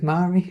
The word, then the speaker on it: Mhairi: But only because it rhymes with Mhairi.